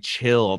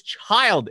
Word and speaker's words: Chiiild: like another DJ say like Chiiild, and I'm like, no, dude, it's Chiiild. It's Chiiild. Three eyes.